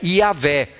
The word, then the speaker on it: Iavé: o nome de Deus, Yahvé, ou Javé, ou Jeová, conforme as traduções que temos também, outras traduções que temos em português. Nós entendemos que a pronúncia é Iavé.